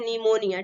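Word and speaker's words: pneumonia: से पहले पी आया जब भी एन से पहले पी आएगा तो रूल हमारा खाता है की जो पीर राहत है हमेशा कहता है साइलेंट होता है इसको हम बोलते हैं निमोनिया ठीक नेक्स्ट एग्जाम पहले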